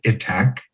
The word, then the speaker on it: ITAC: difference in the world itac the international teaching artist collaborative some people pronounce it attack connects the thousands of